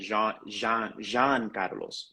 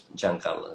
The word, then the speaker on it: Jean Carlos: Even though maybe it could have been Jean Carlos, right? But that's not the way that we pronounce it. It's always with a hard J, John. John. John Carlos.